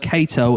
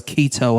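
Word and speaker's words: Cato: I read that he killed a fellow actor who mispronounced the word Kato as keto on stage.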